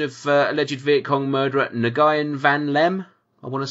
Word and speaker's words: Nguyen Van Lem: The execution of alleged Viet Cong murderer Nguyen Van Lem, I want to say. Yep. That's how you pronounce it.